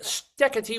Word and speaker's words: Steketee: She's Martha Wade Steady. Welcome to the neighborhood. First of all, Martha, why thank you, Dave. I'm happy to be here and thank you for pronouncing my weird Dutch name correctly.